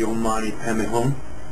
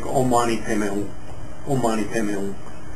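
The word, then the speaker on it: Om Mani Padme Hum: of chenzi which is very popular is the ommani pon now notice um it's often mispronounced because it's in the Sanskrit as P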